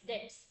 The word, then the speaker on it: debts: sir debts pronounce करछनी but it's debts हैला b shall be silent here तो choosing action रो